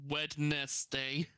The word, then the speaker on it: Wednesday: odd to pronounce it as Wednesday.